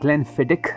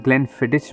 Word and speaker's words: Glenfiddich: Pronunciation में ग्लेनफिडिक बोलता हूँ। Apparently it is closer to the original pronunciation. कुछ लोग ग्लेनफिडिच भी बोलते हैं, जो मुझे बोला गया है कि शायद करेक्ट नहीं है।